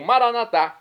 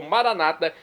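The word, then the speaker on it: Maranatha: e agora eu clamo maranat como dizemos nós católicos ou Maranata como dizem nossos irmãos separados os evangélicos ou protestantes não importa pronúncia o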